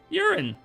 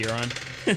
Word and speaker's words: Euron: Urine. Did I say Euron? Yeah. Yeah, that's probably the correct way to pronounce it. But people, they just call him urine because to make fun of him.